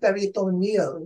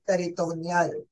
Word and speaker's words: peritoneal: ko'to sa inyo mamaya sa US or UK ang pronunciation dito ay peritoneal dialysis sa atin Ito naman ay peritoneal so ang PD is